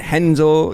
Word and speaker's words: Renzo: guys like when it's it's spelled renzo gracie and they call it henzel you know what i'm saying like i don't know get the i don't get the rh kind of kind of brazilian thing but what is